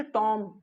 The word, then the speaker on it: tomb: next में दिखे थी वह MB क्या है टॉम टॉम नो बिल्कुल नहीं क्या पढेंगे के बाद क्या है भी आ जाए तो भी अच्छा रहता है साइलेंट का पड़ेगा टॉम मतलब क्या होता है